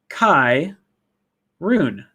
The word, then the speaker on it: Charon: My name is pronounced Kai Rune. Kai Rune.